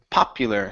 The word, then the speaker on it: popular: to the word popular popular so stress at the beginning Pew after that P